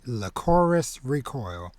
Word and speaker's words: Lycoris Recoil: I had caught up on it's pronounced Lycoris Recoil.